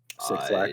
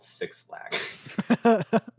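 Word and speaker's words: 6LACK: Six Lack, I think is the correct pronunciation. I think it's called 6 Lack.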